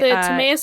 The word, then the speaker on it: Timaeus: Specifically, it is the Timaeus and Critias. Yeah. Thank you. That's such a better pronunciation than I was going to pull up.